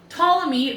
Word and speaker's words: Ptolemy: P is for pterodactyl. Ptolemy, the psychic pterodactyl, struggles with psoriasis. That was a lot of silent P's.